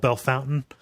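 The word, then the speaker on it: Bellefontaine: in central Ohio where something that is logically called belf fountaine is called Bell Fountain you know and and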